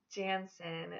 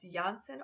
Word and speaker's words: Jansen: My next Jackson alternative I have is Jansen. This is an English name that means son of Jan. This can also be pronounced Janssen or Johnson.